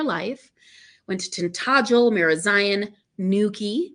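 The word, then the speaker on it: Newquay: went to tentagel marazion Nuki because I know how to say it now pen ANS I mean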